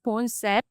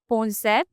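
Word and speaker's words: Boncept: M our new brand name is Bones. How do you spell that? Uh B O N C E P T. Bones.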